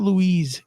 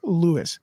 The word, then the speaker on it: Luis: name is Luis but it's spelled Lu is just like the guy from ant-man but it's not Louise it's Lois thank you very much